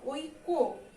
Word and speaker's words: ঐক্য: আর এখানে কি, যেহেতু জফলা আছে তাই কয়ের ডাবল উচ্চারণ হবে, ওই কো।